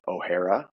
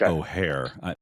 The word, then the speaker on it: O'Hara: we have on O'Hara is that the last name pronounced right or absolutely as long as it's not O'Hare it's not the I